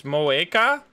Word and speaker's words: Moeka: It's Moeka? I mean, we, in the Netherlands, we would pronounce that as an ooh.